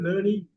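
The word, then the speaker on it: learning: லேர்னிங் லேர்னிங் யாரு ஆர் உச்சரிக்க கூடாது லேர்னிங் லேர்னிங் லேர்னிங்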